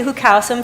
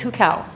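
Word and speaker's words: 户口: but it's called the hukau or the who is am I saying it correctly okay because every time I say who calcium Chinese National stands up and goes no it's who cow okay but anyways it's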